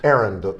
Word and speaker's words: Arend: Arend. Did I say it right? Arend, like the type of thing you run, running an errand, Arend.